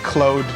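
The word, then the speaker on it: Claude: well nice dogs Natasha I think I think cloade I don't know but I think I think that name is it's a French name that's become common enough in English that people know it's pronounced cloade that's that look at that just see the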